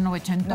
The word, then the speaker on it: Novecento: Novecento, pero pues, no, en italiano se dice Novecento, ¿verdad?